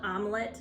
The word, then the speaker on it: Omlet: talk about the company the company is called omelette not spelled like the food you eat but it sounds like it and it was founded